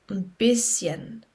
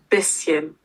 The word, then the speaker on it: bisschen: This is a really hard word to pronounce. So a little bit is ein bisschen. Okay. Ein bisschen.